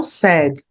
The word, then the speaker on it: said: E o passado do say é o said. A pronúncia aqui comigo, olha, parece bastante aquela palavrinha triste.